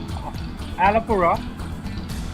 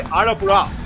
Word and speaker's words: Alappuzha: वो वाला जो Alappuzha, आप Alappuzha. एलपुरा, तो आप वो जो प्रोनाउंसिएशन होता है वो थोड़ा आर की तरह होता है, और जैसे तमिल में